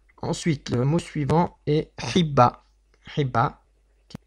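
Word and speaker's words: חיבה: Ensuite, le mot suivant est Hibba. Hibba, qui s'écrit avec un het, un point en dessous, un yud qui accompagne le point en dessous. Donc ce yud là ne sera pas prononcé, il est muet.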